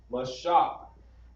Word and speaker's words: Moses: Moses is pronounced Mashah.